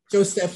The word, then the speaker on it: Joseph: Now, Claude Joseph, or however you pronounce his name, Joseph, it's French, Joseph. I'm going to say Joseph.